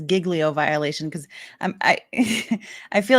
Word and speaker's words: Giglio: We've got a Giglio violation. Now, this is critical evidence in the case. Sorry, it makes me laugh every time he says Giglio violation, because I I feel like it should